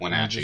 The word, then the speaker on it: Wenatchee: Yeah, I'm Wenatchee.